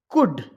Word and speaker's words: could: Could, L silent.